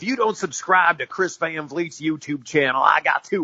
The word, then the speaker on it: Van Vliet: I must point out my last name is pronounced Van Vleet and it is a tough one when you look at it I know yeah we